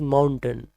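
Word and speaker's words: mountain: माउंटेन is wrong pronunciation. Right one इज माउंटेन.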